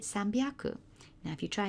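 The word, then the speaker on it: さんびゃく: It's actually quite hard to say sanhyaku. If you repeat it 3 or 4 times quickly, sanhyaku, sanhyaku, sanhyaku, you actually get a sore jaw. Whereas if you make that slight phonetic change, and Japanese always change letters by either adding ten, ten or maru. So you've got an option to make it sambyaku.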